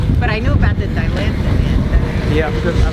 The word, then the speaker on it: Dilantin: But I knew about the Dilantin. Yeah, because my parents used to pronounce it dilatant.